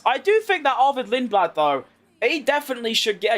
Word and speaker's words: Lindblad: Ball, chuck out Cenod completely, and put Arford Linglad. I still can't Let me just Let me just quickly go and actually Google his name so I I actually say it right. Lindblad.